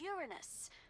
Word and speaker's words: Uranus: no jokes about Uranus besides the proper pronunciation is Uranus it's a dactal sorry Friday all right